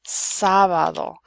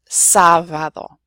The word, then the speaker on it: sábado: And then I also have ave and sábado. So there you have the B and the V both in similar positions, and they're both pronounced the same. Ave, sábado.